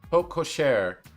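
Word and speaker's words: porte-cochère: vehicles to pass through typically opening in Courtyard PO kosare is how it's pronounced okay like at an airport the St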